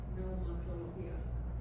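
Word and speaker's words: Pneumatología: Neumatología. Neumatología. Ahora, neumatología se escribe P-N-E-U-M-A y luego escriba tología.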